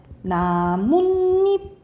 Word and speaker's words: 나뭇잎: 그래서 이걸 나타내기 위해서 또 옷이 들어가고 우리가 나무 플러스 입을 발음이 어떻게 되냐면 나뭇잎 이렇게 돼. 나뭇잎. 그럼 니은니은 소리가 니은니은 소리가 덧난 거거든요.